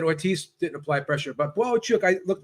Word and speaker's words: Bohachuk: than you um Gail Gail on the round table said his name is bohachuk that's how it's pronounced I guess he uh